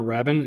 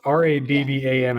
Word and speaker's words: Rabban: I think they pronounce it Robin or Rabin. It's Rabban, I believe. It's how it's spelled.